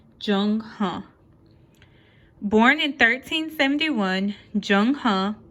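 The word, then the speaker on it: Zheng He: Born in 1371, Jung Huh, pronounced Jung Huh, was forced to join the Chinese army at age 10.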